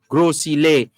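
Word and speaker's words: Gros Islet: is the grow it if you are speaking french you would say grow because you wouldn't pronounce you wouldn't pronounce the s at the end so it would be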